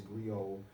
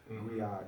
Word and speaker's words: griot: And it's pronounced different ways, griot, griot, you know, certain forms or what have you in different places. But from the diaspora worldwide, it's recognized as a griot.